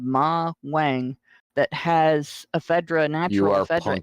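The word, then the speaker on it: Ma Huang: There's an herb, a Chinese herb called Ma Wang, that has ephedra, natural ephedra in it.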